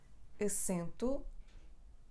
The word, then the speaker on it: assento: Assento (seat)/acento (accent).This is / ẽ / nasal: / ɐsẽtu /.